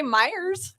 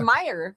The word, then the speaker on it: Meyer: It's like saying Well, people say Myyers. It's Meyer.